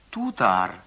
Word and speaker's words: тутар: В тех же случаях Т произносится примерно как Д. тутар, Татарин, удеял, одеяло, солдак, солдат, молоток, молоток, сетель, стол, карандаш, карандаш.